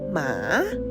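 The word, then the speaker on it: หมา: Next one, dog. We say ma with a falling tone.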